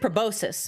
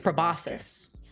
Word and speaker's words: proboscis: it pronounced like that the C is silent yeah the C is next to an S that's like a thing